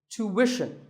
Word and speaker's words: tuition: But after that, it's not ishin, it's wishin. Tuition. You have to put the w sound there. So, tuition.